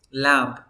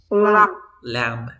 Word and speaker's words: lamb: Lamp. Por tu naturaleza dirías lamp. Pero a ti no se te ocurre de que la B no se pronuncia. Lamb. Nada más.